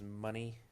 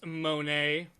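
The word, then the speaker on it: Moné: valley other than Mercedes money it's Monae it's money Mr Krabs say it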